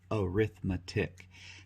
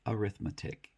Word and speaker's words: arithmetic: four basic operations of arithmetic now this word can be pronounced two ways depending on how it's being used if we're using it like a noun in this case we say arithmetic if it's used as